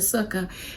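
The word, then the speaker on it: sukkah: and then erect a sucker and then relax Suka sounds like Sookie when I say it right never mind that the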